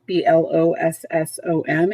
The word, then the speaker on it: blossom: You'll notice if we look at the pronunciation key, blossom, 2 syllables. Bloss is the stress syllable. It gets a little more inflection.